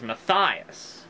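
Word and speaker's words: Matthias: they pronoun you know when I first read the book I imagined the main character's name matthus having his name pronounced well as I'm pronouncing it matthus but in the um in the animated thing they pronounce it as maias M yeah that's sounds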